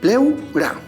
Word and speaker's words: pleura: ¿Dónde se encuentra la mayor fuerza de voz? Pronuncia, pleura. Observa. Se encuentra en la penúltima sílaba.